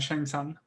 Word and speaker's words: Shang Tsung: they showed him going through the years as Shang Shun, is that how you say it? Shang Tsung.